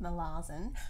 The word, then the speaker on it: Malazan: second in the malazan as i've learned how to say it now molassen book of the fallen